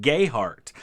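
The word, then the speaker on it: Gayheart: other spelled differently and in kentucky a lot of them pronounce it gay heart and so my distant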